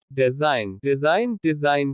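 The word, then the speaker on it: design: G is silent before un. जब G अन के पहले आता है तो G का उच्चारण नहीं होता। साइन संकेत। फॉरेन विदेशी। डिजाइन करना।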